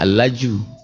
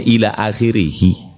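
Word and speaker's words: إلى آخره: Rupanya ditulis itu alif lam kha. Buat bacanya al-laju. Alif lam kha itu artinya ila akhirihi, bukan al-laju.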